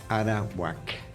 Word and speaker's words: Arawak: Dijiste araguaco o dijiste arawc. Arauak con K.